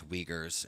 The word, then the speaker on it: Uyghurs: It's Uyghurs, and I believe it's pronounced oh, as Uyghurs.